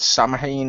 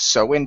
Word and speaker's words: Samhain: American pronunciation yeah but I always feel answered so in because it's the same name as the celtic festival ah which was from over here and most people over here referred to it as so in all right at